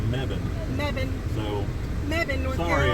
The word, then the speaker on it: Mebane: And I was saying Mebane, but we were corrected while we were here. It's Mebane.